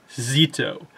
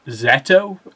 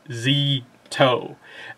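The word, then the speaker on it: Szeto: So I was pronouncing it, I think, Zeto, because it's like Seto without the Z, but it's actually more like, you know, you almost ignore the S and it's like Z-to.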